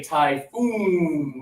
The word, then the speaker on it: typhoon: A lot of students tend to say, "Oh, obviously." Look, double O, double O. Different sound. I'm sorry. Typhoon goes with suit.